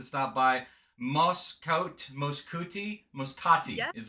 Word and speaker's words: Muscat: the morning we got all over the globe muscati hookah is in uh I'm pronouncing it wrong how do you pronounce it it's Muscat Muscat now we're going to introduce our third